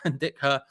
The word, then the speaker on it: Indica: Indica is pronounced Indica. Yeah, I know people put an I after the A, but it is just Indica, sir.